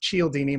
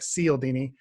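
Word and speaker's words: Cialdini: get the fifth edition CI CI al di ni Bob's here Robert seal Dini it's pronounced Cheil Dini but it looks like seal Dini okay but read that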